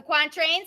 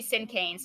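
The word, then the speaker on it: cinquain: of 17 syllables the quantra a Sonet a haiku or a Terk I can't ever say that word that's actually sin kanes not quantra sinan Sonet Haiku or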